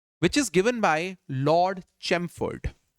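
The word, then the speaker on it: Chelmsford: देखिए आपको एक छोटा सा एक बात बता दूं, ये चैमफोर्ड के अंदर एल जो है दैट इज साइलेंट, राइट?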